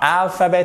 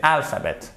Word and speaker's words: alphabet: C'est pas alphabet, c'est alphabet. Et c'est pas alphabet non plus. Il n'y a pas de H.